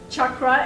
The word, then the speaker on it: chakra: chakras okay first of all the word is pronounced Chuck groans Chuck rot is a Sanskrit word it is as I